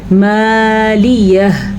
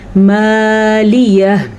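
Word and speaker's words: مالیه: مالیہ، اس ہا کے تلفظ کو بھی آپ ضرور ادا کریں گے. اکثر لوگ وقف کرتے ہوئے پتہ ہے کیا غلطی کرتے ہیں؟ مالیہ ایسے پڑھ لیتے ہیں. جناب جب یہاں پہ ہا ہے تو اس کو پڑھنا ضروری ہے.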